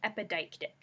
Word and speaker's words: epideictic: And I'll say that again so we can get our pronunciation. It's epideictic.